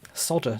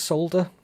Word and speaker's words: solder: There's like a silent L. Solder just sounds like something that you don't want to do, whereas solder, I don't know.